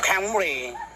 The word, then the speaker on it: Camry: หอม จริง ๆ ยัง ไง อ่ะ Camry Camry ออก เสียง แบบ ฝรั่ง ถ้า คน ไทย